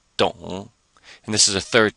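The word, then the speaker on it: 懂: which means to work so it sounds just the same except we have a d before it so it comes out don't and this is a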